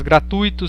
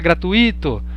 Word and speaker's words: gratuito: né aí leva acento atenção para si para as palavras gratuito circuito fortuito intuito que são paroxítonas é nós a gente costuma falar gratuito circuito né fortuito intuito mas não não